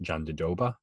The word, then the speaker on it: Jandiroba: her first name but i know now you pronounce it john de doba two brazilian jiu jitsu black belts and unfortunately